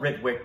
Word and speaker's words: Ritwick: It's spelled Ritwick, but in Bengali, it's more approximating a Ritwick pronunciation.